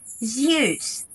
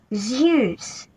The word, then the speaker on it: Zeus: Сегодня обсудим с вами пантеон греческих богов и поработаем над произношением. Let's go! Начнем с трех главных богов. Зевс, Посейдон, Аид. Zeus, the god of the sky. Повторяйте за мной. Zeus, Zeus.